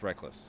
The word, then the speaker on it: Rekkles: It's pronounced Rekkles. He said he can do it either way.